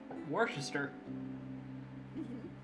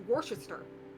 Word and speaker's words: Worcester: And it also shows a massive example of archaic spelling in English. Mm-hmm. Yeah, because the sauce is named after a place in England, which is pronounced Worcester.